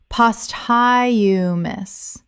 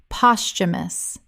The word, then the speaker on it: posthumous: indemnity indemnity Word 165 posthumous common mispronunciation post-high-u-mus correct pronunciation posthumous Three syllables with the th making a ch sound in natural speech. The h is silent.